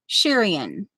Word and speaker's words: Shirian: Now, it's emphasis on the E, not the R. Shirian.